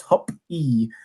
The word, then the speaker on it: Hoppy: By the way, my last name is pronounced Hop-E.